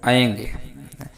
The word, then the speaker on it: ऐं: तो ये सब गलत है। इसका सही उच्चारण ओम ऐंग, पहले में गकार रहेगा, फिर उसके बाद ह्रीम क्लीम चामुंडाय विच्चे, ओम ऐंग ह्रीम क्लीम चामुंडाय विच्चे।